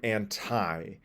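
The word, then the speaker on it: ante: be you meaning against you may see anti which is different from anti uh so a-n-t-e means before so anti like anti-chamber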